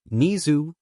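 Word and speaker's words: Nezu: Nizu, pronounced the same way as his normal name.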